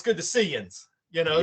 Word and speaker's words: yinz: So the Ohio one is yins, and it's spelled Y-N, either S or Z, however you want to put it.